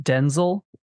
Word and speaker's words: Denzel: Did you know that his name is actually pronounced Denzel?